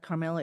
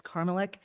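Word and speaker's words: Karmelek: Okay, so, last name is not Carmela, it's Carmelek.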